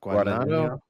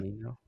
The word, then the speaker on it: Guadagnino: Guadagnino? Guadagnino? Yeah. Um, Guadagnino?